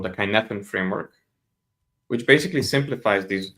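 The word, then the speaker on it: Cynefin: there is there is a concept called the kinefan framework which basically simplifies these these operations into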